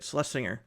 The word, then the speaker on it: Slesinger: I always say her name wrong. Slesinger, Slesinger, whatever. Slesing Celeles Singer, that's how you say it. Slesinger.